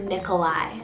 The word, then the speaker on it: Nikolai: classic name here super cool is the name nikolai spelled n-i-k-o-l-a-i nikolai and this one means people of victory